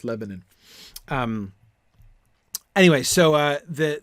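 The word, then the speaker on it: Lebennin: the green fields of le benin uh poem um uh lebanon excuse me we decided that it was pronounced lebanon um anyway so uh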